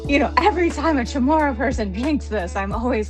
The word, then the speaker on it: Chamorro: kind of go like I know I'm mispronouncing this but people always tend to say Chamorro, what's that? And they get excited and I'm like, okay um it's Chamorro but but